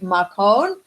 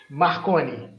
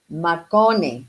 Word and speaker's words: Marconi: Is it have I pronounced it properly? Marcone? Marconi. Marconi.